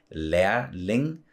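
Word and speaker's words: lærling: that a sound so leir Ling and then the G in the end is also kind of yeah it's not pronounced so it's like a more soft G so yeah exactly in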